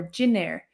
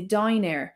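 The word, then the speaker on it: dinnéar: And the word for dinner would be dinair or ginair. I would say dinair.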